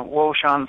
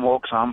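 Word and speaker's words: Wouxun: bow fangs and the WAN some people call them wokan but they're pronounced Wan um I don't them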